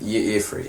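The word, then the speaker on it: Y'ffre: Bosma god, how do you say, Ifri? Ifri, yeah.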